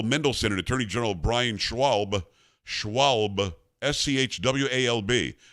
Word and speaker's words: Schwalb: Comer said he wants to grill Bowser, City Council Chair Phil Mendelson, and Attorney General Brian Schwalb, Schwalb, S-C-H-W-A-L-B. I'm used to saying Schwab. Do you pronounce the L?